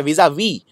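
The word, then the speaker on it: vis-à-vis: याद रखिए विस आ विस नहीं है ये, इसको प्रोनाउंस, इसका उच्चारण किया जाता है विज, ज, ज, जेड साउंड है इसके अंदर, विजा वी, और ये वाला एस प्रोनाउंस ही नहीं होता है, तो इसको प्रोनाउंस आप ऐसे करेंगे विज, वी आई जेड ए वी, विजा वी।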